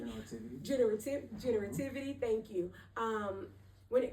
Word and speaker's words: generativity: Um, and also studying um Ericson is a theorist that I've studied and um generity if I'm saying it correctly, generity. Generative generativity.